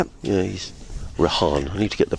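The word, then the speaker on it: Rehan: Y yeah he's Rahan. I need to get the pronunciation of his name correct.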